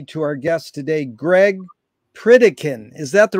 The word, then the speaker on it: Pritikin: for inviting me to Our Guest today Greg pritikin is that the right way to pronounce it absolutely Greg where in the heck